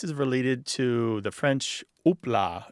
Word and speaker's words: houpla: So I totally get that pronunciation difference now. So Martha, am I remembering correctly? This is related to the French houpla.